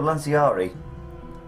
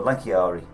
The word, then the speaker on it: Lanciarii: Legio Lanciari, or Lanciari, depending on whether you say it with a hard C or a soft C. The Romans said it with a hard C, like they did both things, like Macedon and Seleucia and Scythia and Caesar, whereas we say it with a soft C.